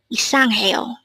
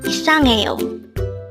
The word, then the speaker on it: 이상해요: 이상해요. Again, it's 이상해요. This is pronounced as a four-syllable word. The first syllable is I, followed by sang, third syllable is he, and fourth syllable is yo.